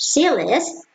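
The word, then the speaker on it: CLIST: class or command list pronounced c list is a procedural programming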